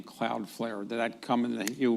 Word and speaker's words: Cloudflare: So where did you get the name Cloudflare?